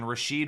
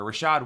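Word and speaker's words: Rachaad: I don't love it Rashad white Rashid white I don't know why I said his name wrong out of nowhere Rashad white give me white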